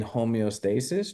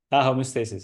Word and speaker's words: homeostasis: And I think that that one punch, being able to accept just being in homeostasis, just Mm-hmm.